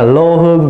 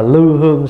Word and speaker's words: lư hương: cũng một chữ đó lư hương là lô Hương Vì Một Chữ ngày xưa bản Kinh ngoà Bắc lô Hương xạ nhiệt sau này mình phát âm là lư hương xạ nhiệt kiến Văn ích là